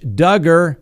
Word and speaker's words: Duggar: next on the docket josh duggar rhymes with hugger well he had a